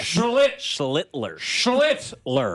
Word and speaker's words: Schlittler: Yeah, Schlittler.